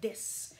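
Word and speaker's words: です: finalement, ça va être des. Ici, dans la région de Gifu, qui est le centre du Japon, on utilise rarement le U. Mais si vous allez à Tokyo, par exemple, ils prononcent le U.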